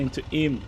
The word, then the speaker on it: Eyam: The right turn into written I am pronounced in because English place names are apparently designed to be a national outlander detection system.